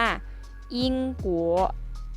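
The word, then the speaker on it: 英国: มี อังกฤษ นะ คะ อังกฤษ ออก เสียง ว่า ยิง ผัว ยิ่ง กู โอ๋ ทบ ทวน อีก ครั้ง นะ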